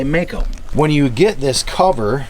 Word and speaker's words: Meyco: anchors in as well this is a black mako or mico cover however you want to say it or however they want you to say it but it's spelled m-e-y-c-o mico is how they officially say it but a lot of people say mako when you get this